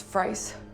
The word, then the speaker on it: Fries: god one more thing what's the correct pronunciation of your last name it's fries thank you you